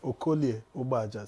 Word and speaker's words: Okoli Ubaja: Let me teach you how to say it in Delta. Okolie Ubaja. Say it. It's okay. Actually, there are 3 vowels. There are 3 vowels there, but because of contiguity, one will assimilate Okoli sound.